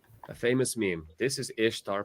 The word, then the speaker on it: Ishtar: Ishtar is pronounced Ishtar, not Easter.